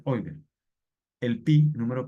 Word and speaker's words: Euler: es realmente se pronuncia oiler Pero uno uno la la la lee o sea la lee como se escribe que se escribe Euler pero la pronunciación debe ser oiler el pi número p